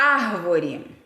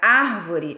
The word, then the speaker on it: árvore: um exemplo aqui a árvore a palavra árvore tem acento lá no ar não é porque porque ele é proparoxítona quer dizer que aquela antepenúltima sílaba é tônica quando você vai separar